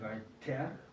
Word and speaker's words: weiter: En el final de una sílaba o una palabra suena más como una A. Entonces, si tenemos aquí la palabra, ejemplo, weiter, no es weiter, ni weiter, sino weiter.